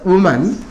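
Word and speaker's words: women: இல்லையா boys hostel இப்போ wo எம் ஏன் இது வுமன் வுமன் wo எம் இன் இது விமன் இதனுடைய உச்சரிப்பு விமன் அப்போ விமன்ஸ் காலேஜ் விமன்ஸ்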